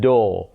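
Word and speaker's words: door: एट द डो और जो British है वो एंड पे आर को प्रोनाउंस नहीं करते वो डो क कहते हैं अमेरिकन जो हैं वो एंड पे अगर आर हो तो उसको प्रोनाउंस करते हैं उस परे स्ट्रेस देते हैं वो डोर कहेंगे डोर ठीक है और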